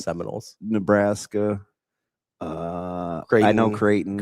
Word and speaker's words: Seminoles: You talked about the Seaman holes. You've got it's pronounced Seminoles.